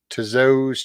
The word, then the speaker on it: Tso: Tso's chicken. It's pronounced Tso.